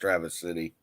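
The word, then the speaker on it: Traverse City: I believe it's pronounced Travis City, Michigan. It is.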